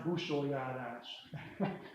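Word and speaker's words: Busójárás: It's pronounced Busholjárás, chasing away the winter spirits in Hungary.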